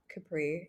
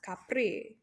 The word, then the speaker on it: Capri: yeah but also then people say it like Capri Sun which it also is not Capri it's Capri okay well we don't capr